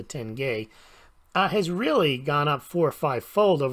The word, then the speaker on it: tenge: gold versus the Kazakhstan I call it the tinge but I think it's pronounced a tenge has really gone up